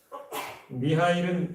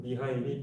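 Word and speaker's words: Михаил: 참고로 이 미하리일이라는 말은 이 미카엘, 그러니까 천사를 가리키는 말의 이 러시아식 발음이라고 합니다. 미하일은 이튿날부터 세미온을 도와 구두 수선을 하기 시작했습니다.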